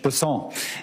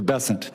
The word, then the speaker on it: Bessent: Cassidy um Mr bassant I'm always going to pronounce your name as if it was in south Louisiana and I'm going to pronounce it with a French basson as opposed to bessent that's what those folks in South Carolina do um I'll try let